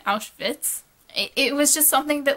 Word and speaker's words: Auschwitz: He kept pronouncing it as Outwith, which really isn't how the Germans would have said it. They'd have said the W like English speakers say a V, so it'd have been Auschwitz.